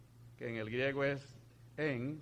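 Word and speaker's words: ἐν: la preposición por que en el griego es en o sea se pronuncia en significa en conexión con mediante y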